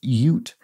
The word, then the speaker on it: Ute: of i think what i said oot ute the tribe and she says it's pronounced ute think of utah there we go very